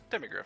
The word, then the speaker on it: Demigryph: allow I just need to know how to say that. You said it right. Demigryph.